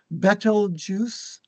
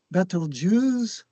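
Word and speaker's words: Betelgeuse: brightest Alpha Beetlejuice oh I found there's four pronunciations listed in Wikipedia betel juice battle juice Beetle Jews Beetlejuice made famous from the movie Beetlejuice sounds like beetle juice yeah Alpha and beta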